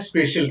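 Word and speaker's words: spatial: हूं स्पेल बोलता हूं लेकिन एक्चुअली इसको प्रोनाउंस करना है स्पेशल की तरह स्पेशल डिस्ट्रीब्यूशन ऑफ अर्थक्वेक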